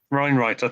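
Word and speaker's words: Wienroither: Weinreiter, thank you. It's like how they pronounce Vienna.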